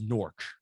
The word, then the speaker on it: Newark: So because Newark is Newark, not Newark. Newark is in Delaware. Newark is also in New trash Jersey.